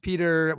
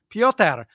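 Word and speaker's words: Pyotr: And Drew mentioned their goaltender, Peter, well, it's probably not Peter, but that's how I'm going to pronounce it. Kochetkov, who's a Canes, Hurricanes. Piotr. Yeah, exactly. Piotr.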